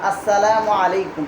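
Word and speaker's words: السلام عليكم: মুরব্বীদেরকে দেখলে সালাম দিবা, আসসালামু আলাইকুম বলবা। আর আসসালামু আলাইকুম বলার ক্ষেত্রে হ্যাঁ, আসসালামু শব্দের মিমের পেশকে স্পষ্ট করে উচ্চারণ করে না অনেকে, স্পষ্ট করে উচ্চারণ করবা আসসালামু আলাইকুম, ঠিক আছে?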